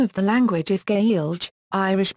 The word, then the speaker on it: Gaeilge: written standard the name of the language is gay alg irish pronunciation before the spelling reform of 1948 this